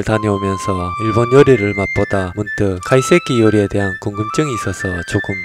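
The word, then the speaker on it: 懐石: 카이세키를 발음하실 때 카를 조금 띄우시고 한번 발음을 해보시는 걸 추천. 네, 죄송합니다. 저는 일본 전문 요리사는 아니지만 일본 여행을 다녀오면서 일본 요리를 맛보다 문득 카이세키 요리에 대한 궁금증이 있어서 조금 찾아보았는데요.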